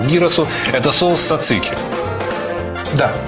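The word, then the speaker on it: τζατζίκι: к dyrus'у это соус цацики да и так соус цацики сансы ты говоришь со вцик и на самом деле правильно говорить society дело в том что в греческом языке нет шипящих звуков поэтому society я потом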